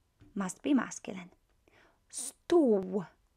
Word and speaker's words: stół: The O with a little accent is exactly the same at the, as this one here when it comes to pronunciation, is U. So this and this are the same, pronounced the same way.